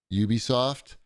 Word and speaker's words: Ubisoft: Creed delay was that in Japan they call Ubisoft Ubi soft like the letters Ubi okay that's all I